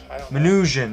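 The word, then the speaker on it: Minujín: manuh how do you say that uh minutian minutian there you go bartominujin begins redistributing books from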